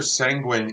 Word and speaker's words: sanguine: But now that I know it rhymes, that's going to be some. My new poetry is going to have that line in it. I didn't know I had anything to rhyme with penguin.